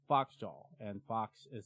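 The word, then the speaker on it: Phoxjaw: And there's this album called Royal Swan by a band called Foxjaw, and Fox is spelled P-H-O-X-J-A-W.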